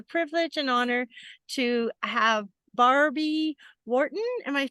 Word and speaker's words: Barbie Wharton: I have the privilege and honor to have Barbie Wharton am I pronouncing that right Barbie it is that's correct